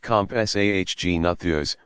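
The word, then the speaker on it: Compsognathus: may have been the zag natha's pronounced comp SAH Gina Thea's which was only about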